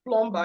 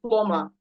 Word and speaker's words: plumber: them, and they remember, oh, this is not pronounced plumber, it's pronounced plumber. It's not pronounced listen, it's pronounced listen.